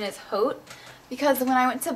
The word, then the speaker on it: Haute: lash mascara and so I always call it hot and naughty but I think the proper pronunciation is Haute because when I went